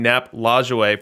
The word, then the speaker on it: Nap Lajoie: And let me get some props in the chat for pronouncing Nap Lajoie for the first time correctly on any stream.